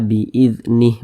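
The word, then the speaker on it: بِإِذْنِهِ: Huruf H tidak dibaca panjang, makanya kita sukunkan atau kita matikan, sehingga dibaca biiznih, begitu.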